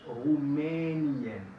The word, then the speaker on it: Rumänien: Y la E larga Rumänien. Rumänien.